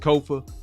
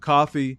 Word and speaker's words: Kofa: I am your host, Kofa, K-O-F-A, not coffee, not kufu, not Kofi, or any variation thereof. Kofa rhymes with sofa.